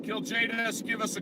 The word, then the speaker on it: Kiljaedas: and just to clarify that's kill to the J to the docs but oh I love